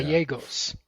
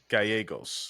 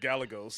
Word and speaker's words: Gallegos: So two L's in Spanish are pronounced as a Y. So it's Yeah. Gallegos. Gallegos. Yes. Gallegos. I appreciate it. Yes. Because I'd have said Gallegos.